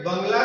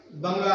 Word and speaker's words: bungalow: तर हे जे बंगला जो शब्द आहे, जसं इंडियन पीपल त्याचं प्रोनाउन्सिएशन काय करतात? बंगला असं करतात. But britisher pronounce it बंगलो. तर ब्रिटिशर्स त्याला प्रोनाउन्स कसं करतात? बंगलो.